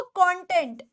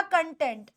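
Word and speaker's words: content: आपको कंटेंट या कंटेंट दोनों दो प्रोनंसिएशन है और दोनों के हिसाब से इसका मीनिंग बदल जाता है एक हो जाता है कंटेंट और एक हो जाता है कंटेंट अगर आप कंटेंट अगर आप इसे पढ़ते हो कंटेंट तो इसका मतलब होता है सेटिस्फाइड इसका मतलब होता है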